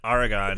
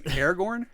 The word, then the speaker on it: Aragorn: this way I'm like what it's like he's Aragon you know listens to the Earth their Pace quick Aragorn Aragorn ster yeah sorry I said it wrong